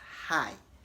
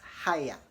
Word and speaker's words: hire: you started pronouncing it some of you are pronouncing it as high as in hello hi but it's wrong to pronounce h-i-r-e as high rather you want to pronounce it as higher higher to rhyme with Lion I hired an artist